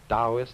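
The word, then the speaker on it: Taoist: Now, Chinese thinking of which there are really two main currents, the Dowist current and the Confucian. Dowist that's spelled T AO I S T and Confucian.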